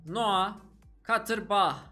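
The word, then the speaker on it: Noah Katterbach: sol Beke takviye Almanya'dan noua katır Bah diye okunuyor olması lazım özellikle soy ismi yüzde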